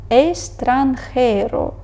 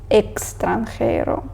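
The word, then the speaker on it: extranjero: двох голосних наприклад таксі Але коли вона стоїть поміж голосної і приголосної вимовляється як звук с Бо так трошки простіше ми читаємо естранхейро а не екстранхейро естранхейро далі літера і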